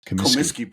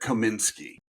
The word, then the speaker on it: Comiskey: And that name is Comiskey Park. And I would say at least half the time I hear Kaminsky. Yeah, they put that that extra N in there.